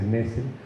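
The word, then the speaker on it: Nestle: Mario Nessel nos dice que no se dice Nestlé, que se dice Nessel, porque no quiere que se confunda, ¿no?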